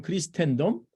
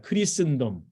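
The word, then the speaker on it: Christendom: 영어로는 크리스텐덤 이렇게 얘기합니다 한국식 영어 발음은 크리스텐덤 영어식 영어 발음은 크리스 이렇게 얘기하죠 여러분 한번 해보시 바랍니다 크리슨 크리슨 크리스의 시기가 시작됐다는 얘기입니다 이거는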